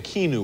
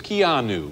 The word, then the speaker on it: Keanu: for mispronouncing your name i was saying kinu or something it's keanu yes that's correct it's an unusual name